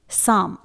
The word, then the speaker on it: psalm: से पहले P आएगा, जैसे साम, स्पेलिंग है PSALM। इसे हम साम प्रोनाउंस करेंगे जिसमें P साइलेंट रहेगा। वो बात अलग है कि इसमें M से पहले आया हुआ L भी साइलेंट है, जिसका रूल मैं पहले बता चुकी हूं।